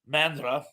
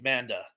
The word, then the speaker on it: Manda: to fight what a mandra and I believe I'm mispronouncing it I don't think there's an R there I think it's Manda I'm sorry I always put an R there for some reason Manda B King Kong